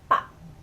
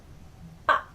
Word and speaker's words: 밥: So for example, 밥, 밥, rice or food. 밥, as you can hear in the beginning, the 삐업, 밥 has the B sound, but at the end it turns into a P sound.